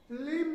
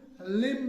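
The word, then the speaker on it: limb: लिम होता है, लिम। लिम्ब नहीं होता है।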